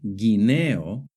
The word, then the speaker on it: guineo: For example, in the word guerra and guineo, the U is silent. But in the word vergüenza and in the word pingüino, the U is pronounced.